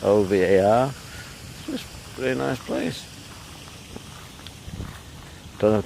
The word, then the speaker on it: Ovar: over yeah all right pronounce it OVA are really nice place